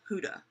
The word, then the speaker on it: Huda: I went by her Get Ready With Me with Nikki Tutorials, and that's how they pronounced it, which was Huda. Like, Huda. I wrote it down that way. WHO/DUH. Huda.